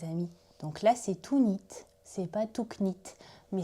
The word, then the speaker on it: knit: personnes anglophones, eh bien, tricoter se dit to knit. Ça s'écrit avec un K, on ne le prononce pas.